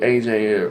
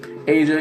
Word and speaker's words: Aja: this means for you AJ or odd I'm sorry Asia I don't know why I always mispronounced your name Aja is uh age excuse me Asia is that love is